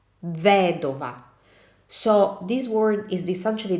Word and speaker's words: vedova: So the stress doesn't follow on the second to last vowel, but follows on the third to last vowel, which is the I.